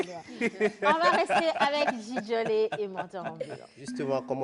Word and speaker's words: Djidjolé: Comme j'ai l'habitude de le dire, on va rester avec Djidjolé et Mentor Ambulant.